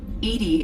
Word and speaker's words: EDI: are you named edie edie is the phonetic pronunciation of edi that is an acronym for enhanced defense intelligence where are you my